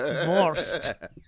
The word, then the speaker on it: Wurst: It sounds like worse for the worst. Conchita well, it's like for a the sausage, worst. isn't it? Wurst.